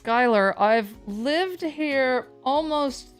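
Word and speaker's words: Schuyler: Phonetic Alphabet if I today I learned that Sher street is pronounced Skyler I've lived here almost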